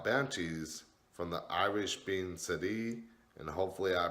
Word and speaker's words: Sidhe: Now, banshees, from the Irish being Sidhe, and hopefully I pronounced that right, it's spelled S-I-D-H-E, meaning woman of the fairies.